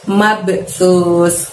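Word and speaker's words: مبثوث: Sa itu cara mengucapkannya, dorong ujung lidah kita hingga menyentuh gigi atas, sus gitu ya. Jadi tipis pengucapan S-nya, mabsus.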